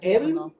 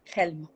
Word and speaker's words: Helm: ¿Cómo se pronuncia? ¿Elm? Duro. ¿Elm o Helm? Helm. Helm.